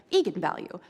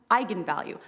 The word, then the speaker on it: eigenvalue: that I wasn't quite sure on how to pronounce it looked to me like Eagan value so right I mean I think that's what